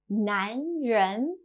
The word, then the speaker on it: 男人: 男人.